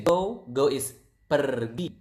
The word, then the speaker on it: pergi: So you can see we pronounce the R quite clearly. So it is kind of like Spanish. You speak Spanish, I think you will not pronounce the R quite near to this language.